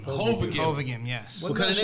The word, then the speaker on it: Hovagim: Hovagim. Hovagim, yes.